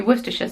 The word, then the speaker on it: Worcestershire: Even so, it should be Worcestershire sauce, but Worcester sauce.